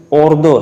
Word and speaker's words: اردو: ماخوذ اور اڈاپٹڈ ہے، جس کا صحیح ایکسنٹ یا تلفظ اوردو ہے۔ اوردو یا اردو کے